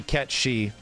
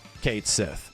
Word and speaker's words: Cait Sith: chose to ignore that the Japanese name will probably still be ketchy closer to Kate Sith it was just an